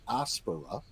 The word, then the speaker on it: aspera: And it actually is a short E, so it should be pronounced ad astra per aspera.